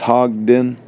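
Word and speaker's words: Hodgdon: PB bottle for the hodon yes sir how do you say that I believe it's hogden hogden uh the and in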